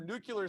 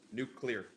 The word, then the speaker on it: nuclear: that was James our nucular saying good job alright I gotta stop everyone right now there's two syllables nuclear I know I'm saying it wrong you just blame us nuclear listen its nuclear yeah that nucular listen